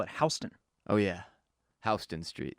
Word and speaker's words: Houston: Houston Street. Houston Street. But do they say that about the city? No. They don't say the Houston Rockets? No. That'd be disrespectful. Yeah, they say Houston.